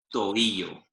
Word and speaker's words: tobillo: And again, careful pronunciation of the vowels there. Tobillo. Tobillo. Tobillo.